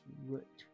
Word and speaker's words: route: But the correct pronunciation is root.